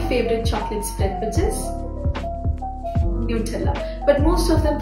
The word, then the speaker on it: Nutella: And now lastly, my favorite chocolate spread, which is Nutella. But most of them pronounce it as Nutella because of its hazelnut in it. But it's actually Nutella.